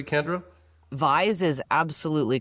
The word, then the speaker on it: Vyse: Is it Vyse or am I pronouncing that correctly, Kendra? Vyse is absolutely correct.